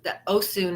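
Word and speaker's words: Osun: and all and then Oh soon is not to be confused with Oshun but it's spelt o s UN yeah so that is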